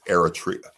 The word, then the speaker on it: Eritrea: they from Eritrea Eritrea make sure you say it right it's Eritrea Dave from Ethiopian they